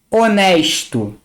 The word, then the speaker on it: honesto: O H no português, quando começa uma palavra, ele é mudo. Ele não é pronunciado.